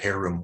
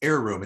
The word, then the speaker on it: Heiroom: Well, so it's funny because one of our developers in Europe, he pronounces it Heiroom. We'll take it. Okay. Anyway, good publicity and anything's good. But it's Heiroom.